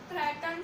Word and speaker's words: threatened: The first is थ्रेटन्ड species. इसकी pronunciation थ्रेटन्ड है, ना कि थ्रीटेन्ड। इस ई को साइलेंट रखिए, थ्रेटन्ड स्पीशीज।